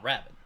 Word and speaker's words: Rabin: Is that how it's pronounced? Rabin? Rabin. Rabin? Yes. Ah, Rabin.